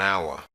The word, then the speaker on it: hour: Words with a silent H are pronounced with the vowel first. An hour, an honor, an honest boy.